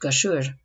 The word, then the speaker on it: Kashir: The name Kashir, pronounced Kashure, was given to him as